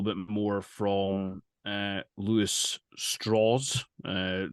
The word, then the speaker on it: Strauss: more from uh Luis straws uh like the the name is spelled Strauss but he points out it's a southern pronunciation with straws uh played by Robert